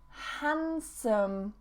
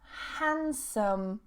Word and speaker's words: handsome: Next one, handsome. Handsome. Not handsome. Handsome. Just remove that D.